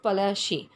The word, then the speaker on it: Palashi: Plassey is an anglicized pronunciation of Palashi, and the place derived its name from the Palash tree, known for its beautiful red flowers that yield gulal.